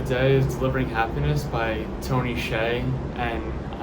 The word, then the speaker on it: Hsieh: Today's book of the day is Delivering Happiness by Hsieh, and I know that isn't what it looks like his name is pronounced as, but it is.